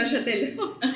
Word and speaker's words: Neuchâtel: ¿cómo se pronuncia? Neuchâtel.